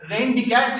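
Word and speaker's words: René Descartes: थे एक फ्रेंच mathematician रेन डिकैट्स इनका नाम है. स्पेलिंग कुछ और है बट प्रोनाउंसिएशन रेन डिकैट्स है.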